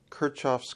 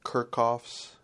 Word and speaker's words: Kirchhoff: we're going to cover kirchoff's current law some people actually pronounce it kerkoff's and I'm not sure which way is the proper way but I hear kirchoff more common than kerckhoff so Kurt kirchoff's current